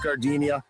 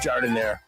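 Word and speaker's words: giardiniera: Don't call it Gardinia. It's pronounced jardinire.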